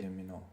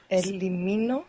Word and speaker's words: elimino: Elimino. Think syllable by syllable. If you think of it all together, it's quite confusing here because you have quite a few vowels. Elimino.